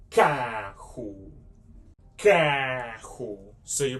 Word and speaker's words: carro: You can pronounce this letter C like a hard C because this one, you can say carro.